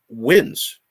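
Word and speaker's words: Huynh: in just a second here um and he wins in you know his the his last name is h-y-u-n-h but it's pronounced win and so what a great name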